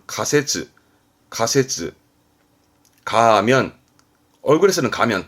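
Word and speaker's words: 仮説: 많이 봤을걸요 가정 가정법의 가정이죠 발음은 각대 가설 발음은 가세쯔 가세쯔 가하면 얼굴에서는 가면 다 가면 바르면 가면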